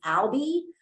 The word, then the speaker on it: Albi: or rhyming word so my name is Albi um rhymes with pal like I'm going to be your pal for the semester and my last name